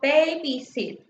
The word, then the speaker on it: babysit: For example, babysit. We're stressing the first syllable, which is babe.